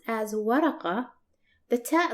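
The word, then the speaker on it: ورقة: While paper, which is pronounced as waraqa, the ta letter is connected to the letter before it, and that's why it's shaped like this.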